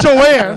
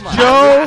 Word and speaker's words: Joe: Joanne Very easy Not Joanne Joe it's Joe At least say it